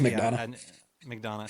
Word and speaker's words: McDonough: Just McDonald.